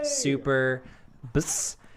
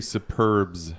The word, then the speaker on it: Super BS: Guys, welcome to the 32nd annual episode of Superbus and I will be your your host. You It's actually Superbs. Superb. Search on Google. Superbs. You've been saying it wrong for a long time.